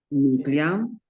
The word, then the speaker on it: client: ¿Pronuncio la T final? client, Client. Muy bien. entrée, Bien. Entrée. ambiance, ambiance. Ambiance. Parfait. La E final no la pronuncio. Cliente, entrar y ambiente.